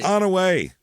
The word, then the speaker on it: Onaway: it that's it and if you pronounce it differently you shouldn't CU it's onway it's the best way to do it here it is in